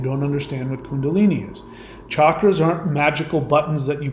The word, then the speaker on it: chakras: chakras are and there it's pronounced chakras not chakras.